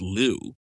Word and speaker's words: Liu: This guy, his brother's name is spelled L-I-U. L-I-U? Is that supposed to be Lou? Yeah, they're not... That's supposed to be like Lou, but they're not described